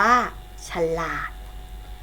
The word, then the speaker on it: ฉลาด: ขนม สังเกต นะ คะ ฉัน หล่า อ่าน ว่า ฉัน หลาด ถนัด อ่าน ว่า ถนัด